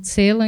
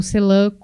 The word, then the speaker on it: Celan: E vocês vão perceber que eu falo Paul Celan e não Paul Celan, porque é a pronúncia em língua alemã, mas ele ficou famoso pela pronúncia francesa por ser um poeta que morou na França por anos, né?